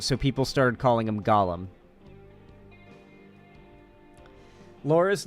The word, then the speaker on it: Gollum: the Shadow Wolf just it's not Golem it's Gollum he's named after the